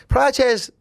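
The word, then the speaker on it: Procházka: Prochazka, they were Prochazka Prochazka, is that how you pronounce that?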